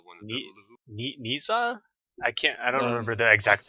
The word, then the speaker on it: Nezha: I think they called it Nisa, but I want to hear a Chinese person say it before I say what it's called. It's Nezha.